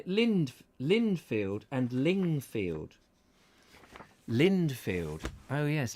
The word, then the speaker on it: Lindfield: Michael White old place Lindfield yes not lingfield I was uh getting